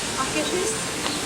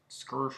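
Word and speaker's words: Akershus: Akashus. What is it? Akashus. Akashus. It's Akershish. Akershish. It's in Norway.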